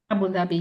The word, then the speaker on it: Abu Dhabi: So is it a why is it Abu Dhabi? Am I pronouncing that correctly? Abu Dhabi.